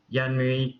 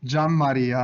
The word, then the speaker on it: Gianmaria: our first speaker uh january uh please feel free to correct any horrible pronunciations of your names in any of these talks yeah sure i know it's pretty difficult it's john maria anyway but so you're